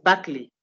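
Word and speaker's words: Berkeley: Okay, so the name is Buckley.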